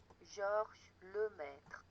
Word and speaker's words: Georges Lemaître: I'm going to call him George, but just so you know how it's supposed to be, Georges Lemaître. That's how his name should be pronounced.